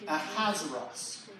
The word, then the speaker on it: Ahasuerus: Ahasuerus.